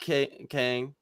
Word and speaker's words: Kang: but yeah communist Rock Kang if I say it in Korean Kang that's how you say it but there you go